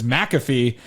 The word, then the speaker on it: McAfee: that for the last 5 days that it's McAfee.